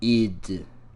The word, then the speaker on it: id: people not listen to how they say their name? It's id. With lowercase I and D. Actually, both of which are lowercase.